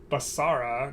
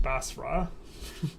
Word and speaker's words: Basra: Just earlier, they tried to correct my pronunciation of Basara, not Basra. Clearly it's Basara.